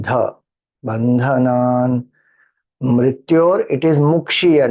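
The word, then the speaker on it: मुक्षीय: Mrityor, it is Mukshiya, not Mokshiya. Some people chant as Mokshiya. It is not Mokshiya, it is Mukshiya.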